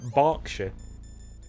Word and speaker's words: Berkshire: that you mean birch or berkshire it look it's spelt berkshire but it's actually spoken berkshire um what else is like derbyshire obviously it